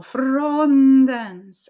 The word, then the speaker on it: frondens: And it means that we are moving energy, vocal energy, through the consonant. That's leading into the next event, the next thing. In this case, the next syllable, frondens.